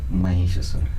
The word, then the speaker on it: Mahishasura: Mahishasura.